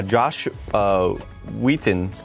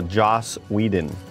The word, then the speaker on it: Joss Whedon: So, like, yeah, Josh Wheaton. No, Joss Whedon. How do you say his name?